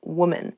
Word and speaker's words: woman: Please say women when referring to more than one woman, not women's or woman's.